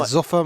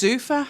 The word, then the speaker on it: Zuffa: So, I'll be saying Zuffa, man. No, it's Zuffa. It's got two F's in it. Yeah, but that's why I thought it was off but it's Zuffa. Zuffa boxing, yeah. That's how they pronounce it.